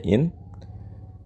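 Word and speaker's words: إن: Nah, in dengan mengkasrokan hamzah dan mensukunkan nun, jadi dibacanya in.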